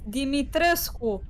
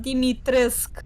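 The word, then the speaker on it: Dimitrescu: terrible let's see relationships it's dimitresco not dimitrisk yeah i don't know why they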